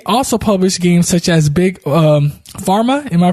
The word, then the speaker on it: Big Pharma: His company also published games such as Big Pharma. Am I pronouncing that right? Yeah, that's right. Big Pharma and Political Animals.